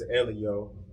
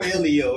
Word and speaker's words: L.E.O.: I called you Leo, right? It's interchangeable. My bad. It's supposed to be Elio, right?